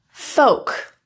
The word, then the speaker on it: folk: L is a bit trickier as there are a few situations it can become silent and it's not completely consistent. LM, LK. Those are the more frequent situations where you'll see the L disappear.